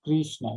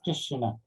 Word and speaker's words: Krishna: the meaning of krishna it is not krishna it is krishna and he asked me